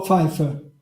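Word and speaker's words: Pfeifer: Oh, Feifer. Feifer. Yan Feifer. Wow, that's I was able to do that. I can't pronunciate like my wife is Colombian.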